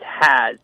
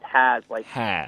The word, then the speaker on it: Hayes: It's Has. It's really weird. People say, I've heard it 3 or 4 different ways, Brian, but it's, I've been told it's Has, like he has been.